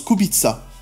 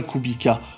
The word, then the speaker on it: Kubica: d'un pilote payant à ça se prononce kubica mais robert lui s'en moque il aime bien koubbi cas ça sonne rapide selon lui d'ailleurs robert c'est le premier